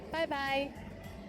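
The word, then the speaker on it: 拜拜: It sounds like the English bye-bye. But be careful to start with the first tone, bye, followed by another one in the third tone, bye, bye bye.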